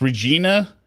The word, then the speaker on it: Regina: So, you're saying it's Regina, Saskatchewan. That's how the city is pronounced.